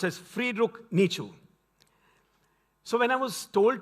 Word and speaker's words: Friedrich Nietzsche: This is by so it's pronounced as Friedrich Nietzsche.